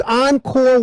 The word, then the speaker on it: Encore: Paul works and and and and the correct pronunciation is Encore Encore so it's oncore wire starting at the top here this is